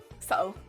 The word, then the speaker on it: subtle: with subtle in it subtle so you don't pronounce the b i was going to say because the b is silent in it that's no good no